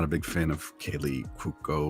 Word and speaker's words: Cuoco: because I'm not a big fan of Kaylee Cuoco or however you say her name. It's Quoco. Cuoco, yeah, she was fine in 8 Simple Rules.